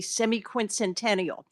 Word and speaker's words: semiquincentennial: people and communities into a frenzy about the semi-quincentennial.